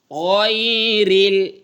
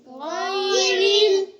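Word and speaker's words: غير: আন আমতা আলাইহিম আলাইহিম আইনের উচ্চারণ খেয়াল কর আলাইহিম আলাইহিম আলাইহিম আলাইহিম গাইরিল গাইরিল গাইরিল গাইরিল গাইরিল গাইন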